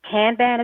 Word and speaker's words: kanban: seeing cello and and really looking at the kanban is how you say it kanban boards the